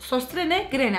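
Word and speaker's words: Søstrene Grene: Ama Utku E sstr ne grene diye okunuyor sanırım bayağı yazıldığı gibi okunuyordu o mağaza Aynen o değişik oı var ya onların ö gibi Ok sostrene grene aşağı zaten linkini koyarım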